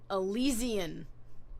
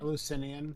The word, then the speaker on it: Eleusinian: And they mentioned the Elysian. Is that right? Did I say it right? Eleusinian. God damn. Thank you. Eleusinian initiations and that whole festival, which it's one of my favorite actually festivals.